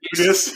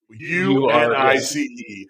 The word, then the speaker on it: Unice: I'm pronouncing it Eunice, but it's spelled U-nice, as in U-N-I-C-E. It is Eunice, but they're clearly when they show up as they saying U-nice.